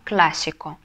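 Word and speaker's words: clásico: классический классический будет по-испански классику классику ударение Мы ставим тоже на первый слог да Потому что если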